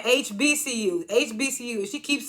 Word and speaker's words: HBCU: She keeps saying HCBU. And he keeps saying HBCU.